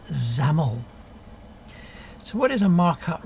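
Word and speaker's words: XAML: letters which make on this name which is pronounced zamel so what is a markup language a markup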